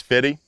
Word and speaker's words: Fiddy: this whole time apparently the correct way to pronounce this is fitty so there's been four